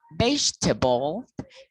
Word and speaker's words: vegetable: In this case, the silent syllable in English, the word miserable, silent number 3, miserable, miserable, vegetable is vegetable.